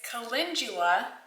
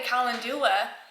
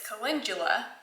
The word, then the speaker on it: calendula: was mispronouncing it it's calendula but my mom always said calendar so I called it a calendula uh flower petal but it's calendula wrong emphasis on the wrong syllable okay calendula calendula whatever